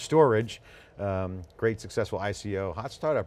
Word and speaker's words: Storj: Storj, pronounced Storage.